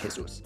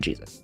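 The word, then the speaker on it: Jesús: So his middle name was probably pronounced Jesus, although once he entered the US civil service, he pronounced it Jesus.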